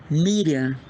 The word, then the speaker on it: Miriam: se chama Maria né Miriam na pronúncia da terra de Jesus bom então quando eu